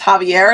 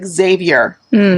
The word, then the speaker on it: Xavier: I'm starting to tell my family that now because I found out recently Spanish people pronounce Xavier as Javier, and I was like, no. My son's name is Xavier.